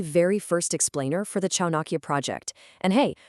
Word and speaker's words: ChaanAİkya: We're kicking things off with the very first explainer for the Chaakia project. And hey, right off the bat, it's pronounced just like Chanake.